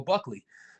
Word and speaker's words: Buckley: been saying let's go buckle for a long time i guess i've been saying it wrong i should have been saying let's go buckley so uh let's go